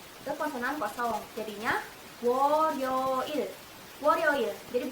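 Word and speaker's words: 월요일: Jadinya Woryoil. Woryoil. Jadi bukan Wolyoil tapi Woryoil.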